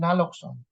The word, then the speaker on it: naloxone: Pag pronounce is naloxone. Kinorek ako kasi ako pag kasama ko yung mga foreign counterparts, naloxone. Naloxone pag pronounce mo.